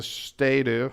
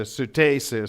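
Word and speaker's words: ステイス: So I changed my name in Japanese to Suteisu, so that it was more clear, and people would stop laughing at me about my name. And so that's how it's pronounced in Japanese.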